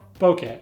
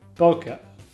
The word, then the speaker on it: bokeh: It's called bokeh, or bokeh. 50% confident it is pronounced bokeh, but it's the shape light makes when blurred out behind a subject.